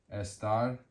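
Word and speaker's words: está: The verb estar to be when conjugated in the third person singular is esta. And the rule states that since it ends in a vowel, the word ends in a vowel, the stress should be on the second to last syllable, which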